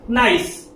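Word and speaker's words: gneiss: You can see the spelling is little bit uh different from the pronunciation. We we we have to pronounce it as nice.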